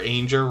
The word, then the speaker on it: Ainger: And Jennifer Ainger rhymes with danger, so that you can know exactly how to promote this channel, which is really good.